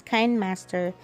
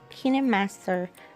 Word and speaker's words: KineMaster: headquarters in seoul korea some people pronounce it as kind master but i call it kinemaster because that's how the